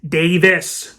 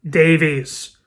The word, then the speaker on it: Davies: be produced by Ray Davis before you correct me in the comments below it is Davis not Davies beat you two at